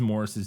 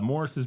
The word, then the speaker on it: Maurice: For people who don't know, it's spelled Maurice, but it's pronounced Morris in Britain, apparently. One night, Alec climbs a ladder and enters uh Morris's bedroom through an open window.